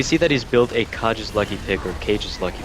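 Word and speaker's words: Kage: AD runes, we see that he's built a Kaj's Lucky Pick, or Cage's Lucky Pick. I'm never quite Cages. sure how to pronounce that.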